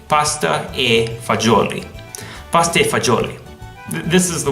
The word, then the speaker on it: pasta e fagioli: ricotta mozzarella capisci another one is pasta fazool fazool this came from the important dialect but you say pasta e fagioli pasta fagioli this is the worst in America